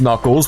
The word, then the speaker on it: Knuckles: It was uh it was like a mind-blowing moment when I learned that the K in Knuckles was silent. I was like, why why is the Sonic character pronounced Knuckles?